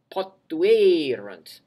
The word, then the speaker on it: potuerunt: Although they both have the same letters, the past tense has a U or a hiatus or a split. So if you say it correctly, you will hear the difference. Potuerunt.